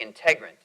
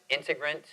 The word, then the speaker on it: Integrant: and I was like integrant that's a that's a perfect name I'll use integrin okay worst freaking name ever everyone pronounce it integrate Indigent ignorant like it was like it